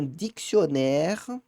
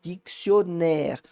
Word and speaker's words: dictionnaire: Bom, se você souber pronunciar a palavra, pode te ajudar, tá? Pode, cuidado. Por quê? Porque se eu não tivesse esses dois N's, o O seria mais fechado. Então, o que é dobrar uma consoante faz? Normalmente, ela abre a vogal anterior.